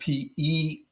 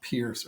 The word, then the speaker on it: Peirce: It's spelled PeiRce, but it's pronounced Peirce, not Pierce.